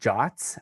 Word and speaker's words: JWT: into some content uh json web tokens are pronounced jots actually and they're an ietf